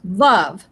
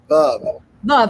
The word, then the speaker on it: Veuve: We've been calling it Veuve Clicquot, but it's pronounced Veuve. Veuve, because that's the name of the originator's wife.